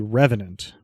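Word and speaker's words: R3venant: The pronunciation of this would be Revenant, but it would be R3 instead of RE.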